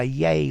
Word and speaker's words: yea: into this internal rhyme by yay or nay which rhymes with day you know it reads